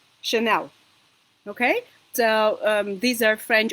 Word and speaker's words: Chanel: for example chemistry chemistry and if CH combination is pronounced sure so it means that these are French origin words like for example champagne or for example chandelier which is Ja or the Famous Brand Chanel okay so these are